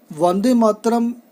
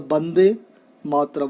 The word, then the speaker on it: वन्दे मातरम्: Vande Mataram actually pronounced as the Bande Mataram.